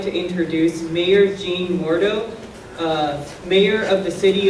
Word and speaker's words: Jean: It's a French John, so it's pronounced Jean.